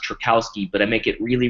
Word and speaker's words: Trajkovski: it's way cooler uh my last name looks a little bit funky and uh it's it's actually pronounced trakowski but I make it